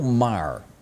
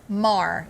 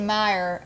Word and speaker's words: Maher: Maher. Yeah. Did I say it wrong? You said Meyer, and it might be a different person.